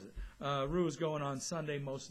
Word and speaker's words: Ryu: going to be Hyun-Jin Ryu. Yes, we're calling him Ryu because it's not Ryu, it's Ryu in Korean, so we pronounce him Ryu.